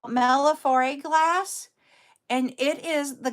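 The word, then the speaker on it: millefiori: And they are called, and I might be pronouncing it wrong, but I pronounce it Mellifore. It's an Italian word.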